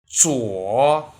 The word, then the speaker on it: 左: 左 Next, watch how I pronounce it. 左 z u 我左左左边左边铅笔在你的左边，铅笔在你的左边，左手，左手，你用左手写字吗？你用左手写字吗？左侧，左侧，电脑在房间左侧。电脑在房间左侧。